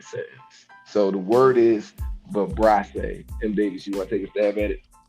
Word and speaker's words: vibrissae: Word of the day is vibrace. Is who? Vibrace is spelled VIBRISSAE.